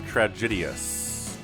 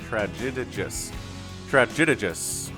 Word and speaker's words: Tragedius: And Inferno has a proxy hatch coming up at the third base of Tragedius. No, that's not how you say it. Tragedius.